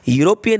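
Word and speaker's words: European: यूरोपियन में ई silent है, हमें ई से भी मतलब नहीं है और हमें यू से मतलब नहीं है, हमें तो यू के साउंड या से मतलब है।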